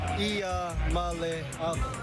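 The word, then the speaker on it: Iamaleava: The correct way to pronounce my last name is Ia Malava. Ia Mallaya.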